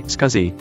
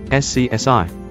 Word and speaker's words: SCSI: pronunciation varies for instance with the acronym SCSI computer professionals usually say scuzzy but non Tech is meeting It For the First Time usually say SCSI so one might reasonably